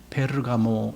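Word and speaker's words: Πέργαμος: 버가모라는 것은 헬라어로 발음하면 그냥 페르가모 이렇게 됩니다. 페르가모.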